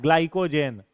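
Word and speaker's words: glycogen: ग्लाइकोजेन।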